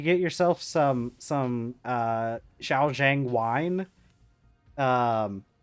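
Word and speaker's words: Shaoxing: Xiao xang wine um I don't know I'm probably not pronouncing that properly but uh you know I think it's Chia Shing I think it's it's like s h a o x i n g I'm pretty sure is how it's spelled you get yourself some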